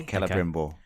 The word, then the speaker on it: Celebrimbor: Keller, is it? Keller, yeah. Hard C. Yeah, Celebrimbor.